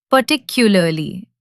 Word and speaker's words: particularly: Particularly, the stress is on the second part.